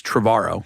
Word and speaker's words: Trevorrow: to say like, well, it rhymes with tomorrow. Yeah. Like who wants to know that You guy? said that to me the first time I met you, that it was Colin Now you're Trevorrow, outing me as having